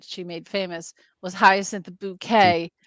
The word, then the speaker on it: Bucket: She'd be like, Doctor, Mrs. Bucket, it's Bouquet. Okay. It's pronounced Bouquet.